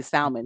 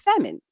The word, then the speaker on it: salmon: I got to say it like that because I used to say salmon and I used to get about but it's salmon.